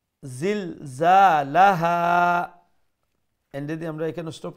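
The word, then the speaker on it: زِلْزَالَهَا: Za is a powerful letter. Make sure you pronounce it with a strong sound. Zilzalaha.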